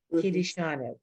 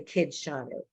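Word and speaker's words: קידשנו: Kiddushanu. We don't say kidshanu. You know the word. So it's kiddushanu. And it becomes the Dalet his own syllable.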